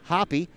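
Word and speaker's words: Happe: last name is now hoppy that's h-a-p-p-e but pronounced hoppy she is in her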